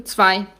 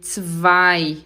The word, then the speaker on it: zwei: Atenção para a pronúncia do zwei. O Z tem som de TS, tss, tss, e o W tem som de V, zwei. O EI tem som de I, zwei. Muita gente fala zwei, é zwei, zweimal.